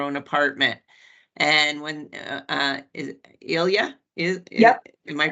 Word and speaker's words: Ilya: And when is Ilya Yep. am I pronouncing it correctly?